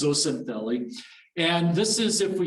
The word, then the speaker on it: zooxanthellae: so i know that's a mouthful so it's pronounced zocintheli and this is if we sort of give